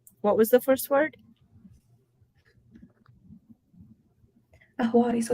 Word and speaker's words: Ahwari: Ahwadi, so it's spelled Ahwari.